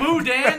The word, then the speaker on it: boudin: It was like- Boudin.